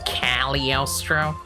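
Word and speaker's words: Cagliostro: castle of costro Yes actually it's pronounced calostro I don't know sometimes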